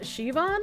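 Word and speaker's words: Siobhan: Yoban is pronounced Shivon.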